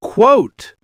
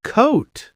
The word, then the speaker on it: quote: Quote. Quote. Not coat.